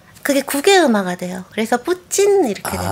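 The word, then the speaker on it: Путин: 입에 익어 갖고 그래서 러시아 원어 그대로 하면 진인데요 우리나라로 하면 이제 푸틴 이렇게 되는 거죠 러시아는 그럼 트티 발음을 잘 안 합니까 그게 국의 음마가 돼요 그래서 푸진 이렇게 됩니다 아 그렇게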